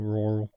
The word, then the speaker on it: rural: difficult word to say it's rural one word it's one syllable rural okay so on to